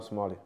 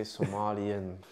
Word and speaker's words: Somali: Because obviously some people Some people say Somalian. The word that don't exist. Don't say Somalian to a Somali. That's the worst thing you can say. It sounds so weird. It's Somali.